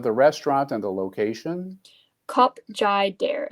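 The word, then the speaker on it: Khop Jader: Cup Jai Dare. It's spelled K H O P J A D E R.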